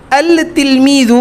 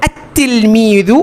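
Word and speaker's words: التلميذ: যদি আমি আল লাগাই তাহলে কি হয়ে যাবে এটা আল তিলমিদু হবে না কি হবে আত্তিলমিদু হবে আত্তিলমিদু হবে এটা দেখুন উচ্চারণে দেখিয়েছে যে উচ্চারণটা যদি আমি লেখায় আনি লিখবো তো আমি এমন করেই কিন্তু উচ্চারণটা কেমন হবে আত্তিলমিজু আর লিখতে হবে কিভাবে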